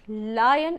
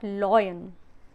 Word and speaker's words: lion: Most of y'all pronounce lion as lion, low. It's not low, it's not low, it's L, this is L. Please correct it. If you are speaking this, it's not correct. It's lion, not loyan.